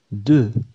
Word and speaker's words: deux: بعض الحروف في أرقام معينة تُكتب ولكن لا تُنطق. على سبيل المثال، "deux". يوجد حرف "x"، لكنه صامت. في كلمة "trois " يوجد الحرف "s".